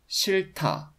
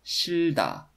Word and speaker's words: 싫다: Let's learn about the adjective 싫다. 싫다. The second final h consonant of the consonant cluster is silent, but it affects the initial d consonant in the next block. So it's pronounced 싫다, not 싫다.